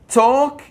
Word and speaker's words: talk: talk to the hand، لاحظ L ما تلفظ، إذا كان عندنا L K ال L لا تلفظ.